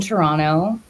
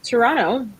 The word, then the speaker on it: Toronto: too am based in Toronto the te is silent and I love raccoons raccoons why I don't I really don't I just I think the most terano thing that I could